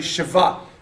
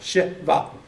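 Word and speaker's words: shva: When you see 2 dots stacked on top of each other, it's actually shiva, is how they say that. It's the I sound, shiva, okay? And it's pronounced really quick, shiva.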